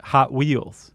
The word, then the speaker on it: Hot Wheels: Hot Wheels. Oh, instead of Hot Wheels. Yeah. The emphasis is on the hot.